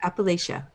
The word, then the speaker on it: Appalachia: pronounced? Appalachia.